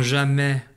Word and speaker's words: jamais: problème j'en suis sûr ne pas oublier la lettre s qui est muette dans jamais j'entends le raid du